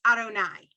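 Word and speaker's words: יהוה: jude hey bob hey that word you'd hey bob we never ever pronounce we never try to sound that out it's arunai okay and in the torah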